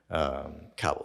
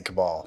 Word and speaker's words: Kabul: Kabul is how you pronounce it. I say Kabul. Whatever. Yeah, I keep on wanting to say Kabal.